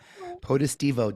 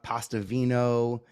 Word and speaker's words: Potestivo: and that's important uh potestivo doesn't roll a pastavino uh positivo I get a lot um but either way